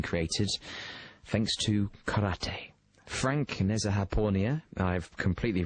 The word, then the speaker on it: Nezhadpournia: How do you pronounce your surname, Frank? Yeah, Nezhadpournia, but I'll take whichever take you want to take on it.